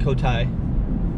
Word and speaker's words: Cotai: just went into so kolowan plus taipa you put the two syllables together and you got kota kolowan and taipa so